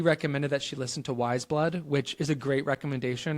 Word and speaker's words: Wise Blood: Which I think he mispronounced as Ways Blood.